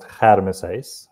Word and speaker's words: Germishuys: So my surname is pronounced Germishuys with a kh.